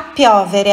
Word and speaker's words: piovere: A piovere, atenção, olha aqui, é piovere. Sílaba forte, a sílaba tônica é no O, não é piovere, é piovere.